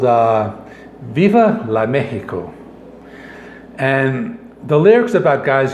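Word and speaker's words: México: you would know that the correct pronunciation is mexico and not mexico that is when you're speaking spanish so i mean they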